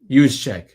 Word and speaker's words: Juszczyk: Juszczyk? Juszczyk.